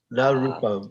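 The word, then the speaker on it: na rūpam: And then, although the word na means no, we want to say na rupam.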